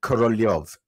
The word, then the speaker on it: Korolev: she kept calling him Korolev. He's spelled K-O-R-O-L-E-V, but K-O-R-L-Y-O-V is the way I see it in my brain.